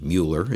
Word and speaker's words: Mueller: of course the uh the Miller neighborhood Mueller if you prefer that pronunciation the old airport location